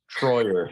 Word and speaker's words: Treuer: do it correctly sure my last name is spelled t-r-e-u-e-r so i got the native guy with the german name troyer and it means true